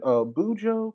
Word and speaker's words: Kujo: How do you pronounce her name again? Bujo? Kujo? It's Kujo.